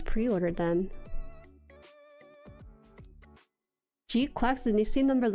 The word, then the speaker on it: GQuuuuuuX: Like actually Gquax for 6 years. It's pronounced like this in JP.